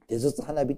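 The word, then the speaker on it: 手筒花火: また文字を出しましょう手筒花火と読みますはいありがとうございます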